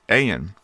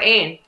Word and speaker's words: Ayn: It's Ann, though. There's a big distinction there, right? It's A-Y-N, but pronounced Ann, right? Yes, or Ain.